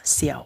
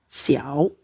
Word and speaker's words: 小: Tulisannya oke, saya tulis ini pakai Xiao ya. Nah, teman-teman yang mungkin pembelajarannya cara bacanya di sini ada si, i, au, xiao.